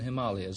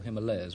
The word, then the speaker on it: Himalayas: for domestic purposes in the Himalayas or Himalayas whichever they want where you want to pronounce it it is a cross